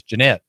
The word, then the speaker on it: Jeanette: So it's not Janet, it's Jeanette. So it's a much softer, more graceful, fluid name than Janet.